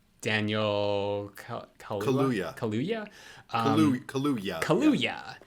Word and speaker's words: Kaluuya: Kaluuya. Kaluuya. It's like Kahlua, but Kaluuya.